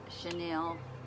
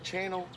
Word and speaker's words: chenille: It's the pink chenille jacket. Is it pronounced channel?